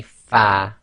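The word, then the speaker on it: ف: pronounce the letter fa your Upper Front Teeth should touch the inner wet portion of your bottom lip so say fa far the next three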